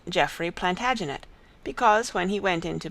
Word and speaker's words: Plantagenet: covered with his visor the latin name for broome is planta genista and gradually it came to be pronounced plantagenet although jeffrey was french